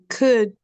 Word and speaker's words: could: And remember should and would. We never pronounce the L.